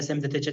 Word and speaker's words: semi-detached: that for some reason candidates from Uzbekistan want to pronounce this ed as id too often. Semi-detached house, semi-detached house. It should be semi-detached.